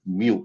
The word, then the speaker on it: mu: This is elongated u and we would pronounce this as mu mu.